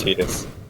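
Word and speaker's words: Tidus: Also, technically, I think his name is pronounced Titus. Ow. It is Titus. His name is pronounced Tit.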